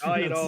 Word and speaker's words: Guido: Guido is Guido. the correct Guido. pronunciation.